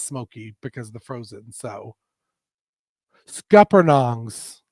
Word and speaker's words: scuppernong: doesn't get as Smoky because the frozen so scuppernongs scuppernongs thank you I always be like saying it